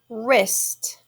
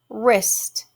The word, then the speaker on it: wrist: right our next word wrist wrist w-r-i-s-t of course that w isn't saying it's the name it's not whoa wrist we just has that have that r sound so w is silent nah g n a